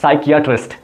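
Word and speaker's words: psychiatrist: बहुत लोग इसे साइकेटिस्ट भी कहते हैं जो कि गलत प्रोनाउंसिएशन है। इसका असली प्रोनाउंसिएशन है साइकेटिस्ट।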